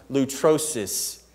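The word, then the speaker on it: λύτρωσις: what eternal means but this word redemption is pronounced loot rosis it means ransom you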